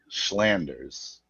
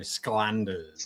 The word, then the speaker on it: Sclanders: say on a video, Schlanders, but there's no H. No, there's no H. There used to be when it was a German origin, but it is a hard C. So, Sclanders.